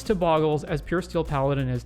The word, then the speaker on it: Bogles: today we're looking at boggles pronounced correctly as boggles or incorrectly as bogles by weirdos who insist gifts or gifs is